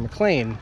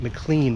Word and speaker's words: McLean: mcclain which is interesting because a few episodes I